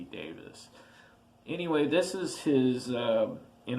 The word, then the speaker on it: Davies: And for years and years, I thought it was Ray Davies because it is spelled Davies, but after hearing a few documentaries and hearing people talk about it, it's definitely supposed to be Davis.